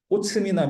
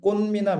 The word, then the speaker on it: 꽃미남: 그러니까 이거는 꽃미남 이렇게 발음하는 거죠. 꽃미남 이렇게 발음해야 되는데 이 치읍 발음을 음절 끝에서 발음하면 꽃스 이렇게 된단 말이야. 말이 안 되죠. 그지? 그래서 치읓이 아니라 디귿 발음 된다는 얘기입니다.